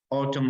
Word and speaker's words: autumn: is about the we said a biological facts Autumn Leaves yes the noun is silent they don't say ottoman autumn autumn autumn